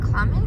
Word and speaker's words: Klamath: In Klamath, that's how you say it.